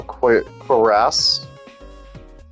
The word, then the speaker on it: cuirass: Listen, I know how the pronunciation of that one word is now. Cuirass.